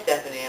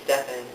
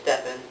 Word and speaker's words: Stefan: So when I say, hey, I'm Stefan, they say, oh, hi, Stephanie. I'm like, no, it's Stefan, just Stefan.